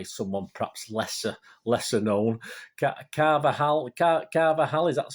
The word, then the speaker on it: Carvajal: be replaced by someone perhaps lesser lesser-known carvajal carver haley that's how you pronounce it um can be world-class but he's